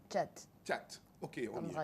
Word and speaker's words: Chat: J'ai bien prononcé? Chat.